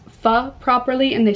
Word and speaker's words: pho: in Toronto, it is me ordering donkatsu and pho. I remember last time I said pho, you guys got like so heated at me,